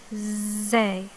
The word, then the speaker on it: زاي: Zay, zay, okay, zay.